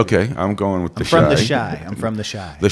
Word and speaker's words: Chi: It's The Chai, which is, I believe that's how it's pronounced. It's about Chicago. It's Shy.